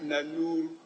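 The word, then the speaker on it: Nanuur: Then the Nanur is spelled as N-A-N-O-U-R-I. It's Nanur, N-A-N-U-U-R, Nanur.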